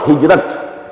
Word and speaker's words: hijrah: I said, at some time in my discussion that I'll explain the word hijrah also. Hijrah, which we in Urdu pronounce hijrat.